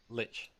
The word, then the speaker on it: lich: Lich. It rhymes with bitch.